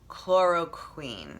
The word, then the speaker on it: chloroquine: And one of them is called chloroquine.